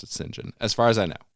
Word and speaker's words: St John: see the name St period space JN you pronounce it singen as far as I know but and it's